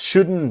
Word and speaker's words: shouldn't: and things just shouldn't be. So the T in just is silent and the T in shouldn't silent. Things just shouldn't be so complicated.